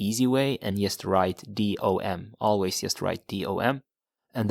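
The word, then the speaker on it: dem: Till dom. So the pronunciation is the same. Dom in the beginning, but it's just spelled differently. You had one was D-E, the other one was D-E-M.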